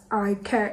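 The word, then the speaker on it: Ikat: iCat, it's I-K-A-T, so that's why I say iCat.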